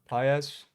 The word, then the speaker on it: Pages: How do you say this kid's last name? Pages. Paez. Andy Paez.